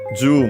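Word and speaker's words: 十: Yeah, and yeah, as expected, ju is accented, so on the ju on the first syllable.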